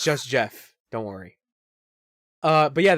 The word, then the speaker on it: Geoff: __ ] no it's Jeff Jeff wait so g-e off spells Jeff yes no yes no